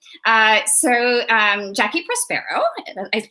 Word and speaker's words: Jacqui Prospero: Jacqui Prospero, did I pronounce that right?